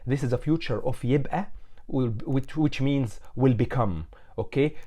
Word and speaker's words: يبقى: So the qaf in the modern standard Arabic, we turn it into Hamza. So يبقى instead of يبقى in modern standard Arabic.